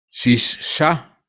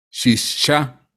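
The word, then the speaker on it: שישה: hebreo representa, aquí está, Shishah, Shishah, así se pronuncia 6 en el hebreo.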